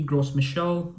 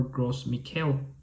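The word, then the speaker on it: Gros Michel: And with this name, this could be Gross Michelle or Gross Mikuel. It depends on the origin or or how the person uh likes it to be pronounced.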